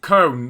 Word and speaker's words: Köln: So you've got Cologne, how you want to pronounce it, Köln is how you actually pronounce it.